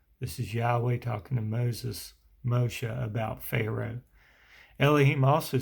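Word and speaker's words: משה: Then Yahweh said to Moses, now we learned in an earlier video, his name in Hebrew is pronounced Moshe, and it means draw out or born of.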